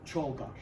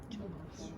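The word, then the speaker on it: Czolgosz: Uh so his name is uh it's pronounced Leon Cholosh. Cholosh.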